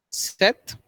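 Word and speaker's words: sept: okay the policies something number seven is pronounced as seth normally uh p p p is uh not stressed okay mostly if you get the sound of seth s e t h seth rollins like the name okay set so p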